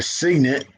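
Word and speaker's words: Cygnet: emissions regulation so the signments I mean the Signet that's Martin Signet was only marketed in the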